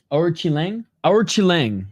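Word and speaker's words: Alatengheili: ] up his name or Chang ailang that's how you pronounce the name or Chang um he's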